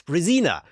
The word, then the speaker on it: Brezina: thomas is nobody and if you want to pronounce it correctly in english it's brazina because you know i